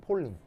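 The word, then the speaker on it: Pauling: 그래서 폴링이에요. 폴리 아니에요. 폴링. AU는 O 발음 나요.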